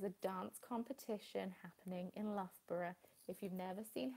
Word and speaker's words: Loughborough: But you see, I pronounce it Loughborough, not Loughborough. Loughborough. Like a borough.